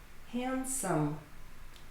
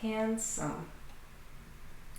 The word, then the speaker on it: handsome: Silent D. Handsome. Handsome.